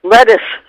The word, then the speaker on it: Lettice: always called Lettuce, and I think you pronounce it almost like the thing that you eat. Lettuce.